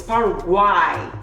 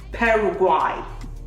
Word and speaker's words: Paraguay: saying Paraguay because of the Y, but it's Paraguay. So Paraguay. Sorry, yeah, struggling with the pronunciation, but look at the pronunciation on the flag.